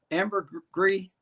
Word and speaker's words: Ambergris: familiarity with uh how do i i always pronounce it wrong ambergris amber gree it's a very hard key ambergris key okay